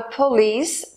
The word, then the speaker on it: police: inglês lecce esta tarde a palavra polis tem duas sílabas ia mais forte é a última polis repita as frases